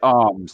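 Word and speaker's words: Armes: And you pronounce it Arms, do you? Yes, Ray Arms, yes.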